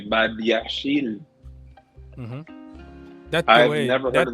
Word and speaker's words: Badiashile: I find it very funny when you say Badiashile. Mm-hmm. I've never heard of this player, but that's the way it's pronounced.